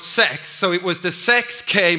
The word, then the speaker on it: sex: And then it became the 6K model, and then in Swedish, as you know, 6 is pronounced sex, so it was the 6K model, which was not very smart at all.